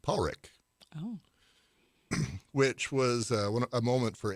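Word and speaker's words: Padraic: the interview that that it's pronounced in Scotland Paul Rick which was a moment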